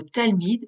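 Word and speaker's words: תַּלְמִיד: Ou encore, avec le mot « Talmid », où le « שְׁוָא / shéva » sous le « ל / lamèd » ferme la syllabe « tal ».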